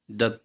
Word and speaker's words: the: But when द comes before a vowel sound, यानी vowel के पहले जब ये आता है द, तो हम क्या पढ़ते हैं? We pronounce it एज a long sound. जैसे कि ये लिखा हुआ है एज दी, THEE, इस तरह हम पढ़ते हैं।